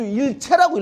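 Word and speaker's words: 一切: 근데 이건 채로 읽어야 돼요. 안주 1절 그러면 안주가 하나도 없다. 다 끊어졌다. 그러니까 우리 장사 못한다. 이런 말인데, 안주 1채라고 읽어야 됩니다.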